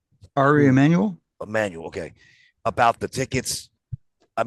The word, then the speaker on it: Emanuel: I had it in my notes about asking um how do you pronounce his last name? Ari Emanuel. Emanuel.